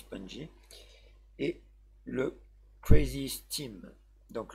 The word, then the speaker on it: Pungi: a ici le Data le Penji mais je pense que ça se prononce punji et le Crazy steam